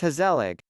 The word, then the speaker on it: gezellig: If the words are said in a light and upbeat manner, that's gezellig. If one or more syllables are emphasized but drawn out, pretty much like saying, hey sell ik, slowly, sounding slightly annoyed, ongezellig.